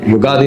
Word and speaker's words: ಯುಗಾದಿ: ಇದೆನ ಅನ್ನೋ ಪ್ರಶ್ನೆ ಇಲ್ಲಿ ಯುಗ ಆದಿ ಅಂತ ಹೇಳ್ತೀವಿ ಕೆಲವು ಉಗಾದಿ ಅಲ್ಲಿ ಬಿಡುತ್ತಾರೆ ಉಗಾದಿ ಸರಿಯಾದ ಉಚ್ಚಾರಣೆ ಅಲ್ಲ ಯುಗ ಆದಿ ಯುಗಾದಿ ಅನ್ನೋದು ಕರೆಕ್ಟ್ ಯುಗದ ಆದಿಯಲ್ಲಿ ಒಂದು ಸರಿ